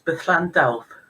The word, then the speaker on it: Berllan Dywyll: of all how do I how do I pronounce that name it's Bethl health.